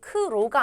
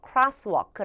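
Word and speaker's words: crosswalk: 걸 기억을 하시면 되는데 이때 여기 발음이 크로가 아니고요 크라크라 해서 crw 라고 해 주시면 돼요 자 그다음에이어서 여기는 kitchen입니다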